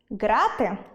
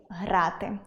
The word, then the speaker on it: грати: Третє, ґрати - у в’язниці, а тут має бути дієслово зі звуком [г], тому грати І четверте - компютерні